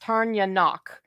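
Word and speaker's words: Tairneanach: So it's pronounced Tarnyanok, and it means thunder.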